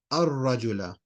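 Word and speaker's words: الرجل: Now when you go to the man, it becomes al and then rajula, but you're going to say ar-rajula.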